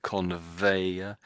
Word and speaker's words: conveyor: It's still a little bit. It says a little bit like a W.